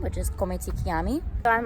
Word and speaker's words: chiami: Which is Come ti chiami. So I'm like, it's like Come ti chianti, but instead of Chianti, it's Chiami, you know? And then Filippo says, it's like salami. You know, it rhymes with salami.